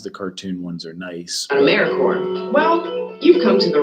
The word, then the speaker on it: AmeriCorps: AmeriCorps is alive and well, just spelled with a silent P. So think of Apple Corps or Core of the Earth.